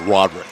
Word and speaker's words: Rodrigue: Now on that backside there, waiting for the pass, but in the paint was Rodrigue. And I believe that the Winslow pronunciation is Roderick. Roderick, excuse me.